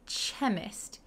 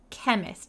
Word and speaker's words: chemist: little bit hard so we don't say chemist we say kk chemist like a k the chemist needed to